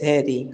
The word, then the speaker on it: HEDI: yes, Hedy, HEDI, helping educate it Dominican Dominica youth.